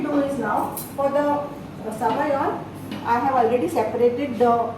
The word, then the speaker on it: sabayon: Sabayon, in France they call it sabayon. In Italy it is zabayon. Z, they spell it with a Z.